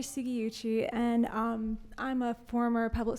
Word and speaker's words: Sugiuchi: Suginchi. Did I say it correctly? Close. Okay. Yeah. Hi, I'm Sugiuchi, and I'm a former